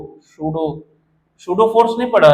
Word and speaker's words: pseudo: Noble gas configuration, सूडो का spelling क्या होगा? PSEUDO, सूडो।